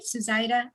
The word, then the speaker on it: Suzaita: Am I pronouncing it right, Suzaita?